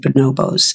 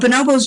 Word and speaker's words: bonobos: And I pronounce it bonobos. I have to say, other people pronounce it bonobo, but I learned bonobo. That's how they say it in Africa.